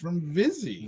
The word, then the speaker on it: Vizzy: of the evening yes vizzy lizzy rhymes with fizzy yeah which is what